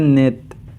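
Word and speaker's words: 넷: कहते हैं सेत ी को हम कहते हैं नेत फाइव को हम कहते हैं था सुत था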